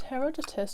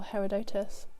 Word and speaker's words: Herodotus: dies on sarpadon but Herodotus or Herodotus depending on how you want to pronounce it or which lecturer of